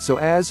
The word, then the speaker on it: psoas: It's often called the mighty psoas, pronounced so as for the many important functions it plays in the movement of your body.